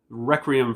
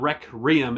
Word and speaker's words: Requiem: I was a kid, I was calling it Requiem. Requiem for a Dream. And I never realized I was saying it wrong until I wrote it down on my notes here that there's no R. It's not Requiem, it's Requiem. And it sounds weird.